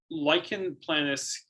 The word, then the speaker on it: lichen planus: Lichen planus, basically irritation of, like, do I have this right? Lichen planus? Yes.